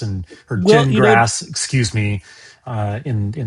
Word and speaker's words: Gingras: from Jingras and or Jingrass, excuse me, uh in in my brain. I know. I know. Everyone's still getting it wrong, too. It's pronounced Jin like you drink and grass like you mow.